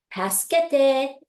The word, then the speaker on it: 助けて: So 助けて, you can think of it as task, like task, and then you're gonna add schedule, 助, 助, and then you're gonna add te, as in 10, number 10's 10.